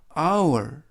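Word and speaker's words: hour: 틈이 니치 하시면 되겠습니다 h 는 이번 단어에서 는 발음하지 않습니다 그리고 오유 a 예외적으로 3개의 절차가 동시에 발음이 돼서 아울 아울 이라고 발음합니다 그래서 아우 월 아우 월이 라고 발음하고 요 뜻은 시간 이라는 뜻입니다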